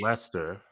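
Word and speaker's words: Leicester: It's not It's not Lester. It's Lester.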